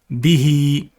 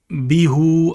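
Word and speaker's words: بِهِ: If there's a kasra before the ha, it is read with an elongated sound.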